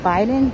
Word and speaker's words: Weiden: mall is noc and biden w-e-i-d-e-n in germany they pronounce their w's with a v so i'm here right